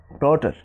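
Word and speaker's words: daughter: আবার ডি এ ইউ টি এইচ টি ই আর, ডটার, ডটার, অর্থাৎ এখানে এ ইউ এর উচ্চারণ অয়ের মতো হয়েছে।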